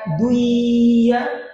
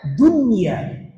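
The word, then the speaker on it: دنيا: Jadi cara membacanya bukan dunya, tidak boleh. Harus dibaca dunya. Pendek, cepat, tanpa dengung.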